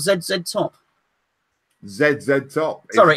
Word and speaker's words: ZZ Top: He wants to know, how do I pronounce ZZ Top?